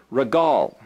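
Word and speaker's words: regel: It's pronounced, this is the letter resh, which is R, and this is the G, and that's the L. And again, you're reading from right to left, so it's regal.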